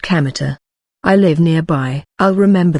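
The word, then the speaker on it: Kamita: and field God's field but isn't pronounced Candor as you might expect it's pronounced kameter I live nearby I'll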